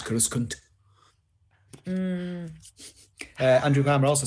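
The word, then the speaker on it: Coruscant: over it that's like i'm sure it's uh cora stant is that no it's kuruskan uh andrew grammer also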